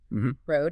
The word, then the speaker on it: road: And I think I could hear that very subtle, almost silent D at the end of road. It didn't have a sharp ending, road.